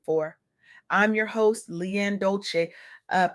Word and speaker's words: Dolce: I'm your host, Leanne Dolce. Uh, pronounced dole like sweet softness whispered in French.